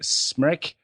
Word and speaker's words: Smrek: Stan Albeck wanted to keep Dave Corzine in his regular role off the bench, leaving the Bulls' 12th man, Smrek, pronounced wreck as in nervous wreck, wrote the sack.